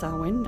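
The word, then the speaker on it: Samhain: Zain, pronounced sawin, I know in English, it's derived from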